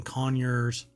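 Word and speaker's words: Conyers: and spa water uh care products located in conures that's how they pronounce it um Georgia has led to an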